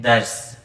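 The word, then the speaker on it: ders: आपको इंग्लिश फिर टर्किश फिर उसके बाद उनकी प्रोनाउंस एशन बताऊंगा so let's start class one class को कहते हैं दर्स तरकी सुबान में दर्स डीई आर एस दर्श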